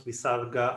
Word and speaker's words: visarga: one of them is visarga so the pronunciation i'm most accustomed to is to pronounce bisarga as a slight repetition of the last vowel sounds that precedes it so for example there